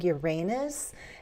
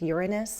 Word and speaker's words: Uranus: And I grew up saying Uranus and then I heard later that there was the alternative pronunciation. I think Uranus, but it sounds so weird to my ears. But you can go to dictionaries and check out the two possible variations.